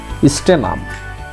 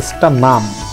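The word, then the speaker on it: stannum: তারপরে আরেকটি হলো টিন, টিনের ল্যাটিন নাম হচ্ছে স্টেনাম, এখানে এস বড় হাতের কিন্তু পরবর্তী সবচেয়ে জোরালো উচ্চারণ হয়েছে এনের ক্ষেত্রে, স্টানাম স্টানাম, তাহলে এখানে এনের উচ্চারণটা একটু জোরালো হয়েছে, এই কারণে এসের পরবর্তী অক্ষর টি না দিয়ে আমরা এন ব্যবহার করছি।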